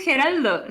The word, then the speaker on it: Geraldo: Es que sí es Geraldo, se llama Geraldo con L.